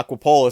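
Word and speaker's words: Aquapolis: Yeah, Aquapololis.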